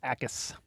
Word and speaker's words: Jacas: Yeah, it's Akis. The J is silent. Emphasis on the first.